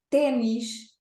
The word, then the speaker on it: ténis: um aluno e apareceu-nos a palavra ténis, que para nós em português europeu tem acento agudo no E é uma vogal aberta.